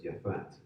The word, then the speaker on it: Japheth: Now, we're going to focus primarily today on Japheth, or as it would be pronounced back in those days as Japhat.